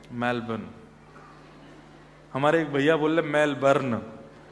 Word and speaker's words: Melbourne: हमारे एक भैया बोले मेलबर्न जो मैल को जला दे मेलबर्न मैंने कहा नहीं मेलबर्न र जो है वो साइलेंट बोलो तो लेकिन हुआ क्या यहां